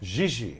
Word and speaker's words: Gigi: Gigi.